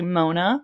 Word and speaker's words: Moana: So my call sign is actually Mona. So it's spelled like Moana, but I came out before the movie.